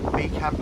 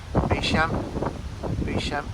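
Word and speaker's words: Beauchamp: No, it's Beecham Arms. Don't pronounce the P, do you? Beecham Arms.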